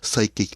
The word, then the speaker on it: psychic: he's not psychic it's psychic the p is silent anyway um next banner